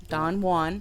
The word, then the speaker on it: Don Juan: Don Jaan dearco Don Don Juan DeMarco Don Juan DeMarco hey you never pronounced the J the J okay if you're all not too familiar with Don dwan Don Don Juan Don Juan you know